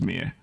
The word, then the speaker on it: Mie: That's Ise, and I'm pretty sure that second one is pronounced Mie.